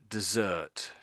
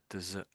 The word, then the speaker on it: dessert: And I think you gave the pronunciation for the other one, I think. So, so this one here is dessert. Dessert.